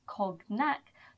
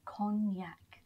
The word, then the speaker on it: Cognac: Now, this is another example where the G is not pronounced, so it's not pronounced Cognac, but Cognac.